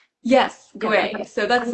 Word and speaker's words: Gwei: How do you say is it guay? Yes, guay. So, that's like the Mandarin Guay is the Cantonese pronunciation.